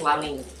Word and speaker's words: La Ligne: The word you are watching, it sounds like Ligne. La Ligne. Ligne. Ligne. Okay, so it's La Ligne.